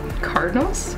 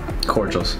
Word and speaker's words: cordials: Now, gin and tonic cardinals? Cordials.